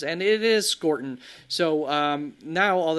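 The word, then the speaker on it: Scourton: I've said Scortton all off season and then I got it in my head that maybe it's pronounced skeleton at the last second and then the beast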